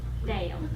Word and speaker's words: Dale: And I told my husband when I read that Marie Kondo book, I said, Dale, his name is D-A-L-E, but it has two syllables. Yeah. Yeah, I know. Dale.